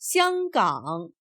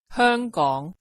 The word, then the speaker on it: 香港: In Standard Mandarin, the name is pronounced 香港, so we would normally expect to see it on the map as 香港.